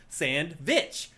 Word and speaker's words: SandWitch: have called it Caravan Sandwitch. But it's really a play on words. It's the Sand Witch. It's spelled like the witch, like the Wicked Witch of the West or whatever.